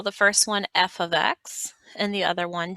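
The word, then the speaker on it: f(x): This is not pronounced f times x. This is pronounced f of x, and it's just simply called function notation.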